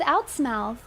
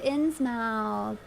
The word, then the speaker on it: Innsmouth: Wait, what's wrong with Outsmouth? Did I say it wrong? Wait, did I say... Is it Outsmith? Oh, it's a Lovecraft reference? I'm so sorry. Oh, to Innsmouth. I got you.